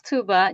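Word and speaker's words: Tuğba: So, it is my name is Tuba. G is silent. It's a little bit confusing I know.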